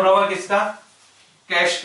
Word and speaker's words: cache: पढ़ना इसको क्या है कैश, इसका उच्चारण क्या होगा कैश। ठीक है लिखा क्या है सी ए सी एच ई, पर इसका प्रोनाउंसिएशन कैसे करेंगे कैश, सी ए एस एच।